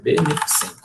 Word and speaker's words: beneficente: Essa daqui todo mundo erra de vez em quando, tá? Até eu, às vezes, na hora de pronunciar, acabo pronunciando beneficente, mas não é beneficente, é beneficente. Beneficente.